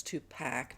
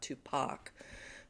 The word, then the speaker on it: Tupac: first of all um I've actually heard that I'm saying tup Pac wrong it's t Pac not Tupac um however I thought